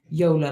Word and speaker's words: Yola: Yola like Lola.